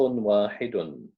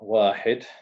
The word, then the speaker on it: واحد: Because if we look at the word واحد, واحد, yeah, we pronounce it dun. Why? Because of two dhammas.